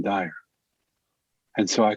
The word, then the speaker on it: Dyer: Their publishing house called him Wayne Dwyer. His name was actually Wayne Dyer.